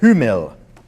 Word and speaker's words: Hummel: Hummel, which I have been corrected by a friend of mine.